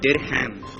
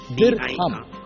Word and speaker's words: dirham: The answer is dirham. Dirham. D-I-R-H-A-M. D-I-R-H-A-M. Dirham. Yes. You're sure? Yes. Well done. That is the dirham that I was looking for as the answer, and a good answer on that one.